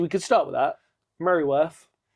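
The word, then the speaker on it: Mereworth: Merryworth. Merryworth. Merryworth. Where's the Y?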